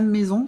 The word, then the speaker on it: Meson: dans un temps un peu loin alors un maison c'est ça m e s o n ouais ou et ça se prononce on mon ouais mais ça sécrit avec